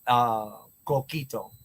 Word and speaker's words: Coquito: But it's called coquito.